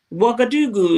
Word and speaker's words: Ouagadougou: Ceausescu was, but there were African countries that had Ouagadougou is the capital of and it's spelled O-U-G.